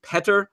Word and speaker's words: Petr: Petr Mrazek, not Peter Mrazek, as I think I've been saying all season long.